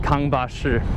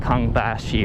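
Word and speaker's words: Kangbashi: Shong District it's called kbash and on Western news media they call it Kong Bashi or something ridiculous learn how to say it if you're going to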